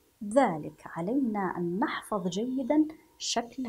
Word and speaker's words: ذلك: نسمع الف ولكننا لا نجدها اثناء القراءه ذلك ذلك ذلك ذلك هذا هو نطقها بهذا الشكل الله اذا اذا اذا لكن